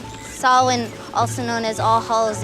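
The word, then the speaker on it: Samhain: Sam Hayne, if you want to mispronounce it.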